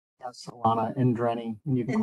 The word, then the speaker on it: Endreny: Endreny? Yes, Alana Indreni. You can call me. Indreny. I'm putting the wrong emphasis on the wrong syllable.